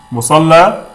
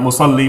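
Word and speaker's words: مصلى: Musalla, not musalli, musalla.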